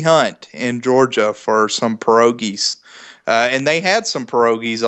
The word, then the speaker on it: pierogi: I did not know what a pierogi. Am I pronouncing that correctly, Yes, Brad?